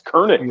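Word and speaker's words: König: the name kernick current it's not Konig it's kerning isn't it a drunk bit Yeah a drunk bit Clinic yeah that's a German pronunciation right kernig I guess yeah Brandon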